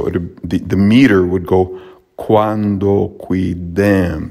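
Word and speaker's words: quandoquidem: the meter would go cuando qui dem so although it's long here it was pronounced short then we have cuando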